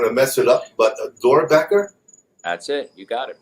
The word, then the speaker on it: Doerrbecker: All welcome, definitely, and I'm going to mess it up, but Doerrbecker?